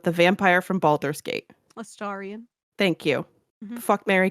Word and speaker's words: Astarion: I don't know how to pronounce his name, but the vampire from Baldur's Gate. Astarion.